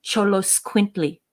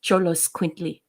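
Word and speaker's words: Xoloitzcuintli: it exactly the way my Spanish students taught me but cholos quintly I love cholos quintley or cholos as they're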